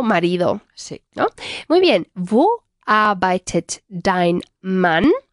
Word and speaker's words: Wo: Wo. Eso es. Una W que se pronuncia siempre como una V vibrada. Vale. Wo.